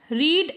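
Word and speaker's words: read: Number 2 is Tuba रीड a book while Thomas played hockey.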